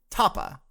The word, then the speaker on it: Tapa: like to clarify that my name is pronounced tapa uh tapa the morning fingers crossed